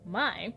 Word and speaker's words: My: the lowercase letter mai from the greek alphabet pronounced mai is scientifically used to signify a micro unit